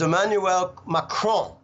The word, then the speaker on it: Emmanuel Macron: out of 200 kids so the way you pronounce it is Emmanuel macron okay macron won the rigged farsal corrupt election